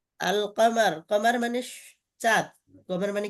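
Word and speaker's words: القمر: আল কামারু এখানে লামটা উচ্চারণ হয়েছে, এজন্য এটা কমারিয়া, বুঝছেন?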